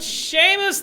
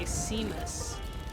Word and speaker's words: Seamus: Seamus the Sea Moose.